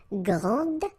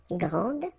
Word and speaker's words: grande: And regarding the feminine form, you will pronounce it grande. Okay, don't insist on the final but then pronounce this D, grande, and then exactly the same pronunciation, grande.